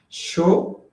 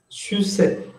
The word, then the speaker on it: chaussette: Oh, Mildred, no es chaussette, es chaussette. C-H-A-U-S-S-E-T-T-E. Así es, chaussette.